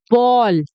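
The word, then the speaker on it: ball: ठीक है, बहुत सारे दोस्त इसको बोल देते हैं बोल। ठीक है, बॉल को बोल बोल देते हैं, पर दोस्तों बोल नहीं होता, वो बॉल होता है। उसका सही प्रोनाउंसिएशन क्या है? बॉ, ओ है, बॉल।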